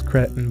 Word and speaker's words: cretin: I think the actual pronunciation is cretin, but that's weird.